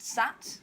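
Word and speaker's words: 七: And 7 is pronounced sat, I think, in Cantonese.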